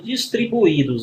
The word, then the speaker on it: distribuídos: Esse I está formando sílaba, ele está sozinho aqui formando hiato, né?